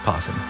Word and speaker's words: opossum: Just pronounce possum. It says opossum. That's how you spell it, but it's just possum.